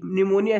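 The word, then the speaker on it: pneumonia: कहाँ कैसे पढ़ती है, पहले दोस्तों पी आता है, फिर दोस्तों NEU, ठीक है ना, MONIA, न्यूमोनिया ऐसे पढ़ता है। इसमें दोस्तों जो पी है वो साइलेंट रहता है।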